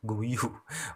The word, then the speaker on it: Guiu: pemain bernama Mark guiu kalau gak salah cara bacanya begitu ya guiu Mark guu itu yang